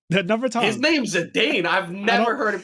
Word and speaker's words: Zidane: His name's Zidane. I've never heard it pronounced any other way.